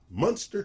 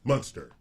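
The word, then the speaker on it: Muenster: acres for $589,900 in Munster, Texas. Munster, Texas. Fact check. Yep. All City- right. Oh, it's spelled differently. Munster cheese. M-U-E-N. Like the cheese.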